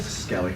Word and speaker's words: Skelly: Skelly. Skelly. It's Kelly with an S.